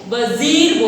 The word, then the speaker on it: vizier: वजीर मतलब क्या होता है? देखो यहाँ पे स्पेलिंग दी है VIZIER, वजीर।